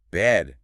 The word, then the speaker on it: bad: in bad or sand, you must forcefully drop the jaw. It must open significantly wider than it does for bed. By pulling the jaw down, you drag the entire tongue mass lower into the oral cavity. So if you try to cheat it. If you attempt to say bad without physically unhinging your jaw that extra inch, Yeah. the acoustics will fail and you will say bed.